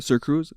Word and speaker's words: SirxCruzz: is going to be sir Cruz sir X Cruz with the x is silent obviously with my name but